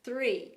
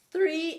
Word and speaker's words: three: No caso do número 3, a gente tem o TH, né? Então a gente fala three. Agora a árvore é mais simples, né? Tree, tree. Three and tree são coisas diferentes.